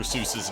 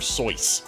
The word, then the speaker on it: Seuss: II era is that 99% of people have been pronouncing uh Dr. Seuss's name wrong. It's not Dr. Seuss, it's Dr. Soy.